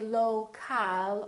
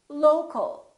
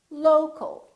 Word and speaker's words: local: For example, we stress the first syllable here, low, low, but we don't say local or local. We reduce the second syllable and it becomes the local, local.